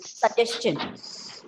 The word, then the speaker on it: suggestion: is one more uh information how do you pronounce this word s u g g e s t i o n same thing that is how we used to